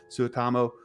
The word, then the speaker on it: Suotamo: Suotamo Chewbacca.